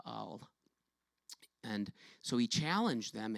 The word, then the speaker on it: Baal: where Elijah challenged the prophets of Baal and I'm not stuttering that's how it's pronounced but all and so he challenged